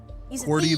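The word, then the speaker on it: Quirty: Querty, like the keyboard. Yeah, but it's spelled qu i r t y.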